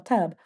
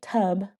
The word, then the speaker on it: tub: And when we say something like tub, we got to make sure we say tub and not tub because you're adding an extra sound at the end of the word.